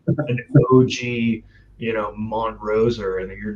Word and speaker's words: Montrose: he told me that the proper way to say the city you live in, Colorado. No, Montrose, not Montrose. And he said that if